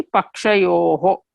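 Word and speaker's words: pakṣayoḥ: There you see pakshayoho. That is how you have to pronounce oho.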